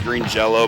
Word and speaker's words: Green Jelly: I think it's actually pronounced Green Jello, but they spell it Green Jelly.